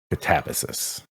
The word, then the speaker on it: Katabasis: There's so many different pronunciations out there of it, but I think the way R.F. Kuang pronounces is Katabasis.